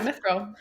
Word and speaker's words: mithril: Yeah, Mithril.